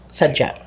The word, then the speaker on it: Sadya: Um I I would suggest probably Sadya. Sadya, yeah, I was going to I know I'm pronouncing it incorrectly, so that's Sadya. Sadya. Yeah, Sadya. Or like do d y is a j sound, so Sadya.